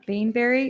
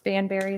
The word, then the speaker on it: Banbury: 1D says modify the street name of Bainbury. Is it Bainbury or Banbury? On their plan, it is spelled Banbury without the E. So that's a typo on the report. Okay, so it's Banbury then?